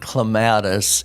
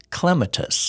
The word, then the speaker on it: clematis: pronouncing it right because I've heard of it as clematis and I've heard other gardeners say clematis yes yeah in in our area I think clematis is the more common that's how I grew up hearing it uh but now a second way of pronouncing it is clematis yeah but uh it's